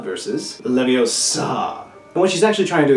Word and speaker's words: Leviosa: how to pronounce Leviosa livvie osa versus Olivia saw when she's actually trying to explain there is that Latin never places the emphasis on the last syllable of a word and all the Harry